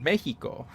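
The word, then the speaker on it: México: call mexico mexico but in spanish it's called mexico and so it's like the x makes a j sound versus the x sound that uh everyone in english reads it and apparently no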